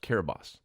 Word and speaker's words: Kiribati: never even heard it it's spelled Kiribati but there's no T in their language so it's called pronounced Carabosse so I did research